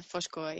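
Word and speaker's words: Foz Côa: Coming back, and I'm going to pronounce this wrong, is it Foscoa? Yeah, Foshkoa, yeah, that's right.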